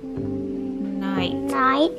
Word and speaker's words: Knight: The K is silent, okay? Okay. What is that word? Night.